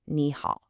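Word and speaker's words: 你好: But to make the language flow better, when you have two third tones right next to each other, the first one actually changes. It becomes a rising second tone. So, nihal becomes nihal.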